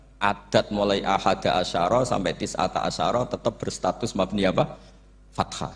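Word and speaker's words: تسعة عشر: tisata Asaro utawi Solong tetap bacanya bukan tisatu asarin tapi tisata Asaro jadi kita tahu secara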